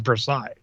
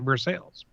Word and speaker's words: Versailles: called I mean the the French pronunciation is Versailles and I have something